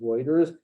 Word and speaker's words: Reuters: It's spelled Reuters and it's pronounced Reuters. It's the same kind of idea. This EU has like an oi sound, so this is Euler, just like Reuters is Reuters.